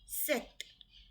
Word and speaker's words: sept: SEPT, set. P is silent in between.